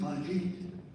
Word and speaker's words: Baljit: Baljit. Okay, please welcome him up. Hi Rotarians. Again, my name is Baljit, B-A-L-J-I-T. So the L is pronounced.